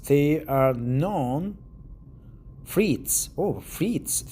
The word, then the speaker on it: frites: Oh, frites. They are pronounced frites. Frites, not frites.